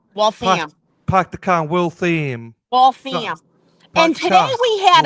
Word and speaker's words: Waltham: It's not Waltham, it's Waltham. Like the ham. Waltham. Park the car, Waltham.